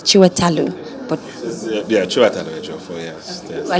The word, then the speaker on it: Chiwetel: my evil friends to tell me how to correctly pronounce the name and he was like chiwa talu but yeah I like